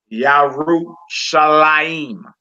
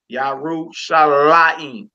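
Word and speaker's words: ירושלים: Yarushalayim. What word is that, my sister? Jerusalem. Jerusalem. All right. We put our emphasis over the lamed because the accent symbol is above the lamed. Yarushalayim. Yarushalayim.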